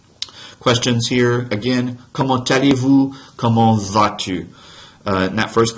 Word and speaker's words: comment allez-vous: Comment allez-vous? I'm pronouncing a T that otherwise isn't pronounced right there because I'm linking the final consonant in the T of comment allez-vous right there.